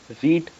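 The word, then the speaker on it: read: तीन ही सेम होएगी लेकिन सेकंड फॉर्म क्या पढ़ा रेट रीड रेट रीड असो क्यों है जब स्पेलिंग सेम है तो प्रोनंसिएशन भी सेम होना चाहिए लेकिन ो नहीं असो भेदभाव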